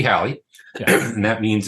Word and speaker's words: Halley: have Italian's name um some people say Haley right Haley's Comet um I say Hallie that's what I was always taught too right though if you probably listened throughout the course of this I might mix up pronunciations it turns out there's also been research done that suggests it might actually be more like Ollie's Comet yeah or horley's comet and Halley's uh name